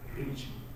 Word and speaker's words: rich: how I'm pronouncing it rich of course I'm exaggerating kind of I'm I'm I am like over stressing on this for emphasis purposes in normal communication we don't say reach say reach say Rich so I put some